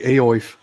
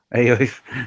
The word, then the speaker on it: Aoife: Looks like Aoif. Aoife. It's Aoife. What else? See, we would make the E silent. You would add another one. Yeah. I would pronounce that somewhat closer to wife or wuff.